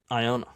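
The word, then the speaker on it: Ioane: Pronounce exactly like Iona. that. Iona.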